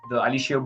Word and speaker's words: Aliseo: Now you're Aliseo. making me say it like you. Okay, Italians so pronounce every vowel.